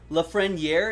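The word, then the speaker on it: Lafreniere: cole bears brian crouch la freniere is the way to pronounce it since even crazy the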